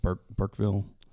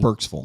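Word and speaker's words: Burkesville: He's in is it Burkeville? Kentucky. Burksville.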